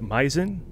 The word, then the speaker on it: Meisen: And Meisen, do I pronounce that name correctly? Yes.